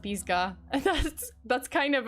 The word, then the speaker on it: Pisgah: forest in north carolina i'm laughing while pronouncing it because if it's pronounced pisgah and that's that's kind